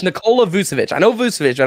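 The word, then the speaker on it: Nikola: so I think it's Nicole I think it's Nicola vusevich I know vucevic I don't know Nicole I think it's Nicola yeah it's definitely Nicole I knew that was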